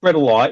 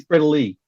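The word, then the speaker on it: bredli: simple it's not bread alive it's brittley a single or an e an i on the end of the name is pronounced the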